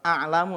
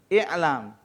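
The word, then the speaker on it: اِعْلَمْ: A'lamu ya. Yang sebenarnya bukan a'lamu. Fi'il apa? Fi'il amar. Harusnya bacanya i'lam.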